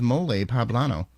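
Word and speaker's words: mole poblano: their big holiday is moley poblano pronounced with an emphasis on the second syllable like guacamole so Bob I know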